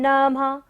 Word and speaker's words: नमः: तुभ्यं नमः, नमः, नमः पर क्या है? विसर्ग है, तो सारी सांस का यहाँ पर क्या करना है? विसर्जन।